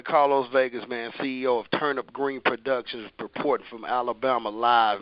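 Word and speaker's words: TurnUp Green: Vegas, man, CEO of Turnip Green Productions, reporting from Alabama live, man. When I say Turnip Green, that's spelled TURNUPGREEN. Kind of sound like what we eat in the South, but it's TURNUPGREEN.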